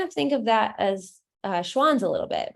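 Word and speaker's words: Schwan's: But I'll look into Swanson a little bit and see what kind of Oh, wait, Schwann's. That's it, right? Yes, Schwann's.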